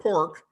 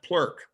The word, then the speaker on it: PLORK: And so I show it, it's spelled PLORK. It's a combination of play and work. It's pronounced PLORK, not PLORK. It's not pork, it's PLORK.